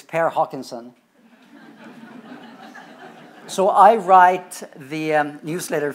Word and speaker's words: Per Håkansson: Here's how you phonetically pronounce my name, if there's no Scandinavians around here. In Swedish, it's Per Håkansson, which is a tongue twister.